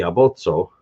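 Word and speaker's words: aboco: alphabet is called the abotso. It's spelled A-B-O-C-O, abotso. And that's because, again, the C is pronounced like a TS, so abotso.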